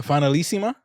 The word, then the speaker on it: Finalissima: What, the finalissima?